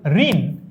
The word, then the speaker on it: ঋণ: শুনেই ফেলবা, তাও বলি, ঋণ এর উচ্চারণ কি? ঋণ, ঋণ এর উচ্চারণ কি? ঋণ উচ্চারণ কি? প্রশ্ন নম্বর 9, ঋণ ঋণ ঋণ ঋণ ঋণ, এটার উচ্চারণ হচ্ছে এইটা, র রস্বইকার দন্তন্য হসন্ত।